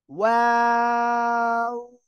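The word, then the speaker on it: و: ওকে, দেখেন সবাই, এই দুই ঠোঁট গোল করবেন, প্রথমে গোল হবে, শেষেও গোল হবে, ঠিক আছে? ওয়াও, এভাবে উচ্চারণ হবে, ওয়াও।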